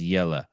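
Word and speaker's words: Jelle: call him jelly but his name is j-e-l-l-e but he's pronounced yellow hosting yeah I don't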